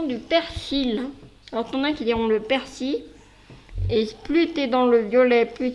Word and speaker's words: persil: mais le reste c'est très bien c'est la prononciation du persil on le persil et plus tu es dans